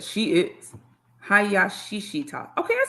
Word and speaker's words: Hayashishita: Hayashishita.